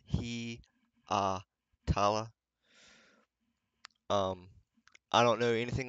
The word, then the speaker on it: Hietala: Marco his last name is pronounced he uh tala um I don't know